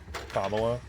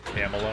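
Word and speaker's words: Kamala: kamla Harris right now how many people refuse to say her name as kamla a lot of Calas or camela I've heard a lot of people say camela if I remember right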